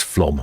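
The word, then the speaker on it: Flåm: Oh, he says it's Flom, not Flam.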